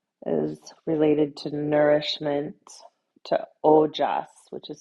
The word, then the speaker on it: ojas: The moon in yoga and Ayurveda is related to nourishment to ojas which is spelled o j.